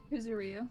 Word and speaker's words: Kuzuryu: Kuzuryu.